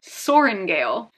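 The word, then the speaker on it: Sorrengail: the name Violet, but her last name is Soaringale. It is thankfully not spelled like soaring, like S-O-A-R, and then Gale as in G-A-L-E.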